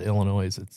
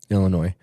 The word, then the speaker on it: Illinois: I heard something that, people from Illinois, the northern half of the state calls it Illinois. Mm-hmm. The southern half calls it Illinois. Really? They actually pronounce the S. So Matt pronounces the S.